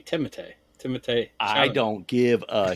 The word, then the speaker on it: Timothée: No, it's Timothée. Timothée? No, it's Timothy. No, I mean it's French. It's supposed to be Timothée.